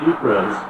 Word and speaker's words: Ypres: 3 years later, on July 31, 1917, the British launched an attack officially known as the Third Battle of Ypres, that's spelled Y-P-R-E-S, in the Flanders region of Belgium,